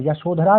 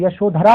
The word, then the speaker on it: यशोधरा: बुद्ध में ध वर्ड का उच्चारण होता है और यशोधरा में भी धरा ध वर्ड का उच्चारण होता है।